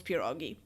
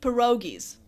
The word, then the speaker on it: pierogi: It's like you can't have a Christmas Eve without those pierogi. Yeah, like, are you even Polish? You never heard of pierogi? Really? Like, Americans say pierogies.